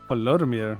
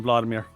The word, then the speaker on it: Volodymyr: Oh, he's actually using like the official like pronunciation. Volodymyr. I just call him Vladimir. Yeah. Well, not So much simpler. Vladimir. That's Volo. Vladimir. That's the Americanized version, Vladimir.